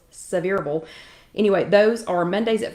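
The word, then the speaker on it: Sevierville: 104 in several and again that is not seaverville so you when y'all read this later it is not c reveal it's severable anyway those are mondays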